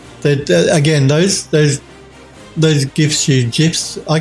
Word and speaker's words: GIF: Well, I believe the guy that created it said you should pronounce it with like a J, GIF.